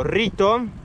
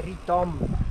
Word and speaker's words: Ritom: Ed eccoci pedalando a fianco del lago Rito. Ho pronunciato corretto sto giro? Sì, in verità giusto si direbbe Ritom.